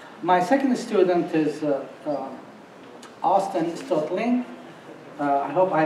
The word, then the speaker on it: Stoelting: My second student is Austen Stoelting. I hope I pronounced it correctly. She told me the E is silent, so we learn.